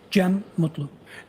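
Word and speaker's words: Cem Mutlu: I also spell it uh with a g- e m. And could you tell us your name, sir? Jim Mutlu.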